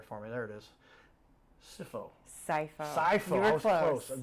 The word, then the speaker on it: Scipho: Scipho. You were I was close. The PH I got right because that's an F.